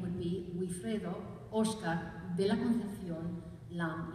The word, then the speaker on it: Wifredo: So some of you may have wondered why he was missing his L in the name of Wifredo, but it's basically because it was easier in Spain, they just pronounce it Wifredo.